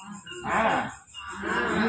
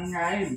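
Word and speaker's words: عين: tetap harus bisa a a ini Ain bukan ngain tapi Ain h a Ain huruf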